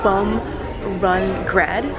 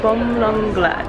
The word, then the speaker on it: Bumrungrad: okay I originally pron I originally pronounced this hospital as bum run grad but it's actually uh bum lung grad bum bum lung lead